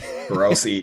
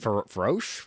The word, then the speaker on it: Feroci: I just didn't know that's how you pronounce his last name. Feroci, yeah. Feroci, yeah. I was like, Feroche?